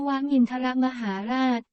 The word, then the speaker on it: นวมินทรมหาราช: ประกอบ พระ บรมราชวินิตโย ว่า วัน นวมินทร มหาราช อ่าน ว่า นวมินทราช มหาราช แปล ว่า วัน ที่ ระลึก